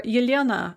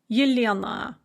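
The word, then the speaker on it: Елена: The ah sound at the end of the name is unstressed in both versions and is pronounced as a kind of an or what's called a schwa sound. So Elena, Yelena. In both cases, the ah is not pronounced ah, but So how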